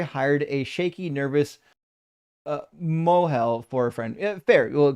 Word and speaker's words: mohel: uh heard the circumcision guy called a moel pronounced to rhyme with so soil. You mean uh moy? Oh well I mean yeah you could pronounce it that way in in modern Hebrew. Yeah yeah you you can do that. Um if you if you pronounce it classically you actually pronounce the uh the hey in the middle of it.